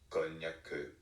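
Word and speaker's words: konnyaku: this word is pronounced konyaku.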